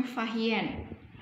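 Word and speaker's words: Fa Hien: Salah satunya ada Berita Fahien, tulisannya Fasien, membacanya Fahien.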